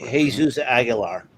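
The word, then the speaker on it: Jesús Aguilar: For the Braves, signed veteran first baseman / DH Jesus Aguilar. I believe that's how I pronounce it. Jesus Aguilar.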